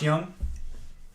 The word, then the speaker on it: Jung: pronounce it too Josh Young yeah a lot of people say Jung too Josh Jung it's actually Young Josh Young oh he's not young